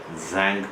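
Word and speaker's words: Tzanck: preparation is for nothing zank preparation the T is silent the shank preparation and under this wing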